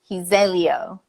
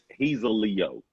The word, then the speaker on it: Hezeleo: Hezeleo. Oh, you butchered that hoe. Did Nah, I? yeah, you butchered that thing. It's No. he's a Leo.